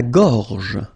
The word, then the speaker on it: gorge: La gorge. La gorge. Okay, remember when you've got this combination G and O, you get the sound go, go. Okay, so gorge. And then G and E gives J.